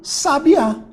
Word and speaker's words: sabiá: a minha sílaba tónica sabia agora se eu trocar a minha sílaba tônica de um lugar que botar o acento eu voltei aqui ó um sabiá então eu tinha aqui